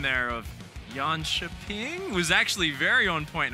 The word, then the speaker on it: Jönköping: a little bit intimidated right now because your pronunciation there of yan chaing was actually very on point I'm feeling very